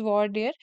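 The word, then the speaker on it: voir dire: इसका मतलब होता है it's pronounced as वर्डियर the process of preliminary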